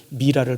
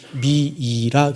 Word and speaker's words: 미라: 그래서 이제 부활을 꿈꿨던 이집트인들은 미라를 만들죠. 원래는 미라입니다. 미라. 근데 우리나라에 번역을 하면서 미라라는 이름이 우리나라에 하도 많아가지고 미이라 그랬어요. 실제로 영어로 발음하면 그냥 미라예요. 미라.